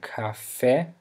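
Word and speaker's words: café: actually a word uh the letter c that begins a word uh usually sounds like a K in English for example we have the word Cafe which means coffee so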